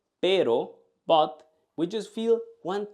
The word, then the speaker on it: pero: But when we say pero, we just feel one touch. When we say perro, dog, we feel many vibrations. But when we say pero, but, we just feel